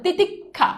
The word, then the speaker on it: তিতিক্ষা: এই খিয়র উচ্চারণ হবে ক খ যেমন দেখো তিতিক্ষা এই যে দেখো তুমি নরমালি উচ্চারণ করো তিতিক্ষা এই যে দেখো ক খ